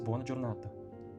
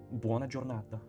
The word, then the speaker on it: buona giornata: No, it's buona giornata. Buona giornata. There's no gemination.